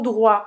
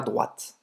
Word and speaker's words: droit: Então, apesar de tout droit parecer com droite, ele quer dizer em frente, certo? Então, allez tout droit. Sim, esse T não se pronuncia, é por isso que você não vai falar droite.